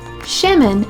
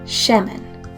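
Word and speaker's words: שמן: using have you ever cooked with olive oil sheman is spelled Shin me nun let's say it together sheman the Hebrew word for bake is AA M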